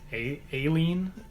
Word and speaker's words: Aline: That's not how he pronounces Aline, but that's how I pronounce my girlfriend Aline's name. She's downstairs somewhere wrangling our dog for me. I forget how Crumb even pronounces Aline. Aileen? Yeah, that's it.